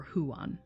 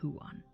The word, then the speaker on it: Huan: was named juan or huan it's probably huan yeah because that's not a diphthong so it's who on two syllables huon he was not born